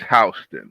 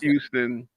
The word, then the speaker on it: Houston: If you're a real New Yorker, it's H. It's not Houston.